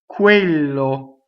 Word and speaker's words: quello: Quello. Now double L is the same as double N. Quello. See, we hold it while we phonate.